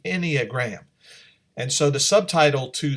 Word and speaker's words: Enneagram: and ii AGR am you might have pronounced it iniya gram or something like that but it's the Enneagram and so the subtitle